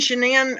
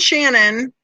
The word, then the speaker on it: Shanann: say that he and shanann are oops i said it wrong he and shannon were best friends let's